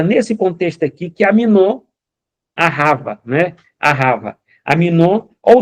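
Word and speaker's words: אהבה: A, o H, eh, o A e o B, né, que tem a pronúncia de V, a né, que significa amar.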